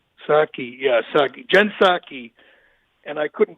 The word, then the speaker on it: Psaki: I think it's Psaki. Psaki.